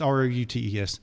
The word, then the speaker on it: routes: And see me just saying the word roots. But it's ROUTES.